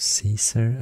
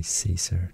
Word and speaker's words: Caesar: cesarian or kai sciences because caesar i guess was pronounced kaiser since it's spelled with a c but we are so used to say caesar today but actually if